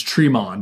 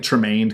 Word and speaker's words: Tremond: think I keep saying her name wrong. It's Tremond. I keep saying like Tremaine cuz of Dick Tremaine. Tremond.